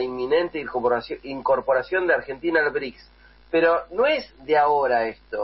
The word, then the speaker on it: BRICS: muchos analistas también dicen Bueno bricks si bien no se escribe así pero suena como si fuera ladrillo no brick ladrillo un bloque un